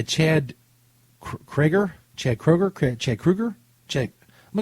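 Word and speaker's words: Kroeger: craigger Chad Kroger Chad Krueger Chad I'm g go Kroger I think the middle e is silent Chad Kroger yes my name is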